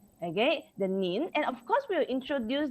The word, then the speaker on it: 您: they, and we also learn about some another pronunciation. The pronouns is for the polite way, which is the word 您. Okay, the nin, and of course we'll introduce the characters here just very simple one.